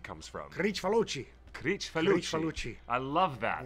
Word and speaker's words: Kricfalusi: With so that's where that name Kricfalusi comes from. Kricfalusi.